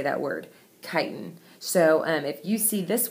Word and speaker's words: chitin: That is how you say that word, chitin.